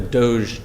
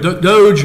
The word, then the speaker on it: DOGE: I'm from West Virginia, and I think the part that of West Virginia I'm from, we would call it dog or doggy or something. But DOGE, I've heard on television.